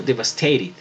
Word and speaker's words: devastated: tercera variación, que suena, la ed suena como una id. Entonces aquí yo pronuncio devastated, ¿listo? Devastated, pronunciaría un británico. Un americano pues convierte la T en una R cuando están en medio de dos vocales.